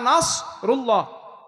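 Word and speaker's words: نصر الله: ইদা জা নাসরুল্লাহ, সুয়াদ একটু মোটা হয় আর সিন একটু হালকা হয়, তাই না?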